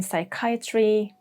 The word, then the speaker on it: psychiatry: Number 1, when the word starts with P, especially with PS, like in psychiatry, psychology, pseudonym, or the more British pronunciation, pseudonym.